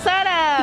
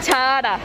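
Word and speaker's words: Zara: Sí, tenemos Sara. ¿Y cómo se dice? Adivina. ¿Será? Se dice Chara.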